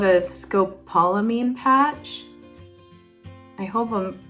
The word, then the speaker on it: scopolamine: put behind your ear and it's called a Scopolamine patch I hope I'm pronouncing that correctly but it's spelled s c